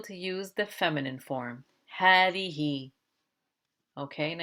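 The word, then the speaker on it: هذه: use the feminine form hadi okay and i told you before that this ha is pronounced as a long ha as though there is an alif after it but the alif is not there it's one of the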